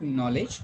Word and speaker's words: knowledge: Okay, so we are going to see its pronunciation also. You are going to call it knowledge.